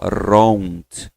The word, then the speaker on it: wrong: Ron, ó, wrong, gente. Lógico que eu forcei aqui para você ouvir o som do R, mas ele sai com uma ideia de R, ó.